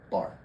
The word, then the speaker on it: barre: spelling out bear but it's actually pronounced exactly like how you would pronounce this word bar right why do don't